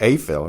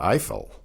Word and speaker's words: Eiffel: Now you might say, why is it Eiffel and not Eiffel? Because in Spanish, the diphthong EI is pronounced A.